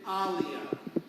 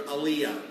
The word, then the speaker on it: Alia: Now we're going to go visit Alia. Now, like I said, I don't pronounce people's names right, and for months when we met, I called her Aliyah. But now I know that her name is Alia.